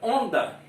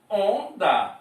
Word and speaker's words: onda: Mas, né, se você for transcrever essa palavra foneticamente aqui, você vai pegar o ON, esse O com tio, ON, depois DA. Temos 1, 2, 3, 4 letras e teríamos o quê? 3 fonemas. Onda.